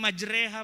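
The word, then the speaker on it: مجراها: Itu kita bacanya majreha Pak. Tapi kalau waduha jangan baca waduhe.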